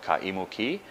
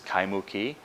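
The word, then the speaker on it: Kaimuki: or an imu ki, such as the town in the edge of Honolulu called Kaimu ki, often mispronounced as Kaimu ki.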